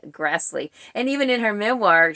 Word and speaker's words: Grassle: Prairie dust by Karen Grassley and you do pronounce her name Grassley I it's hard for me to say that because to me it looks like it should be Grassle but I have you